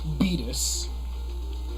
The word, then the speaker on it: Beatus: Beatus. It's a silly name. It rhymes with fetus.